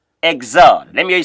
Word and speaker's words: Exode: Of course, is pronounced in French, Exode. It's pronounced Exode.